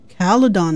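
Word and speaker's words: Caledon: Caladon, that's how you say it. I've been saying it wrong this whole time.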